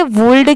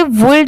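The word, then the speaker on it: would: बहुत सारे लोगों को इसमें भी कंफ्यूजन होता है कि इसे वुड क्यों नहीं पढ़ते? क्योंकि यहां पर तो एल दिया हुआ है। तो देखिए इसे वुल्ड इसलिए नहीं पढ़ा जाता क्योंकि यहां पर एल लेटर साइलेंट है। सिर्फ लिखते टाइम यहां पर डब्ल्यू ओ यू एल डी लिखा जाता है। बाकी पढ़ते टाइम यहां पर एल लेटर साइलेंट होता है।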